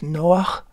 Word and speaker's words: Noach: Genesis parat Noah uh you might know Noah as Noah in your language but in Hebrew it's Noah spelled with a het at the end Noah from the word